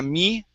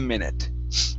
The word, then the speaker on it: minute: in a minute Okay Instead of in a me Okay Use a short I here In a minute In a minute Good